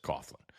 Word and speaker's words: Coughlin: they c u g it's cough right everybody right you know just says Coughlin and we get out